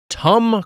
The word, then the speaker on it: Tum: along with my co-host, Tum Cruise, the Spoon Man, Mike Mitchell. Tum like Tums, or Tummy Tum Tum, or just Tom, but pronounced the way Mitch says mom as mum.